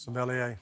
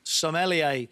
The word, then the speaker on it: sommelier: answer in there and Alan mispronounced sommelier sommelier there's no n so bad luck 16